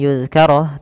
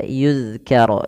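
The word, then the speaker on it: يُذْكَرَ: sampai kita membacanya an yuzkaro tapi dia ayyu nunnya dianggap tidak ada Ay yudkaro fihamuhu wasaa lafal yuzkaro hati-hati dalam melafalkan dalal Jangan dibaca dengan yuzkar tapi dia ykar ykar tipis dalnya Fi panjangkan dia Mad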